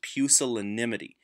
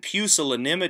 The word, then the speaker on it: pusillanimous: this vise called pusillanimous that's how to pronounce it by the way it's pusillanimous and pusillanimous your smallness of soul was a name that dr.